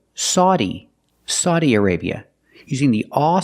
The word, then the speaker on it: Saudi: have the this country this country has three pronunciations the best one or the most common one is Saudi Saudi Arabia using the sound a like cow and how sa Saudi Arabia but